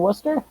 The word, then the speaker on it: Worcester: What is the Providence and Worcester? That's correct, and you pronounced it well.